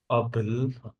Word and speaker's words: apple: So it's not able. Apple. It's not able. It's apple.